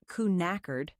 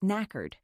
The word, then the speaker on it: knackered: One thing about the sound, the first K is silent, not knackered, just knackered.